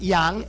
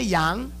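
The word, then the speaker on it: 羊: This word is pronounced Yang. Everybody say Yang.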